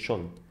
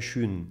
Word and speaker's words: Schön: وقعدت بقى اتعلم انطق الاسم ازاي، لان في ناس بتفكرها اسمها شون، هي مش شون، اسمها شون، ولازم الاو تبقى يون كده.